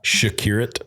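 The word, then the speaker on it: Przekurat: Shakur.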